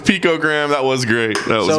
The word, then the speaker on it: picogram: It's not pictogram, it's picogram.